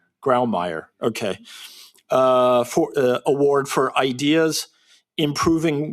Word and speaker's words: Grawemeyer: That's how a German would pronounce it. Is that how an American would pronounce it? Grawemeyer.